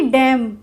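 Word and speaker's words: damn: को नहीं प्रोनाउंस किया ऐसे ही डम डी ए एम एन है तो इसमें डम बोला एन का प्रोनंसिएशन नहीं किया यानी कि उच्चारण नहीं किया हाम एच वा एम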